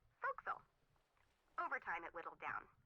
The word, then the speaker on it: forecastle: Try pronouncing it like an English sailor with no formal education. Forecastle. Forecastle.